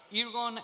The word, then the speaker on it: Ergon: friends from Egon desk ergon ergon ergon okay so Spanish pronunciation right okay you have